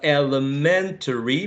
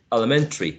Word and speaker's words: elementary: very well done general so elementary may have five some speakers may use four syllables to say elementary right elementary business never uh busyness